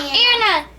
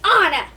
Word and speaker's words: Anna: It's not Anna. It's Anna.